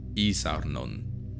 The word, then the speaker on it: isarnon: The letter I was always pronounced as E, never I or E. For example, isarnon, which is the word that gave us iron and eisen in German.